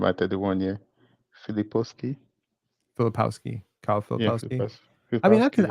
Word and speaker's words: Filipowski: Will you take Filipovsky at, I think I mispronounced 31? his name, at 31 year? Filipovsky? Filipowski, Kyle Yeah, Filipowski.